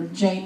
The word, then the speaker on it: Jain: activist he was once a giant monk or a jain monk depending on how you want to pronounce it he's advocated from nuclear